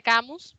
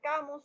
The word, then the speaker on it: Camus: y la peste albert camus o camí si uno quiere afrancesar la anunciación mala francesa